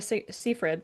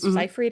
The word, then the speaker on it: Seyfried: She's not like Megan Fox or Amanda Seyfried. She's Seyfried, I said her name wrong.